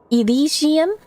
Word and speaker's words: Elysium: The best anglicized pronunciation is Elysium.